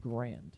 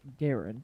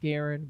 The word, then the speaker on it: Garand: gameplay of the gun of choice the m1 grand or garand as it's actually technically pronounced it's pronounced garen but i'm going to say grand because it